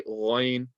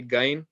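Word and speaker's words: غين: You want to say Ghain. Also, it's not like the G. It's not like the G, so don't say Gain.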